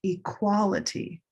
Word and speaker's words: equality: Green tea equal olive sock equality gray day equation. Black cat equilateral. So those four words are all related. Different stress location, different color.